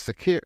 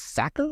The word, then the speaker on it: Sakr: He's had his experience with Sakir. I think it's Sakir. It's Sakr is how it spells. So I believe that's pronounced Sakir because otherwise it's Sacker, which I don't think is right.